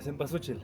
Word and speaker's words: cempasúchil: Cempasúchil. Simpasuchil?